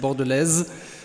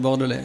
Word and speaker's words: Bordelais: die Runde machen würde ich bin keine Fischsoße ich heiße nicht Bordelaise sondern bordele vielen Dank ja wie